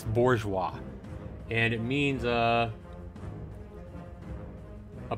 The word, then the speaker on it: bourgeois: not I remember the word make sure I'm pronouncing it right for one bourgeois bourgeois it's bourgeois and it means a a person whose political